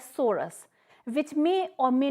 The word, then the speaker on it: sorus: In singular, we can say it or pronounce it as sorus, which may or may not be covered by multicellular structure called indusium.